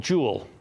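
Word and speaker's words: Juul: one that came out called Joule and we spell it Ju ul and it came out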